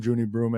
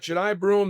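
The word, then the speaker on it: Johni Broome: It's Broom, Juny Broom, and uh I'm saying his name wrong. I think Junai Broom. Yeah, we've got we've got Jai Broom.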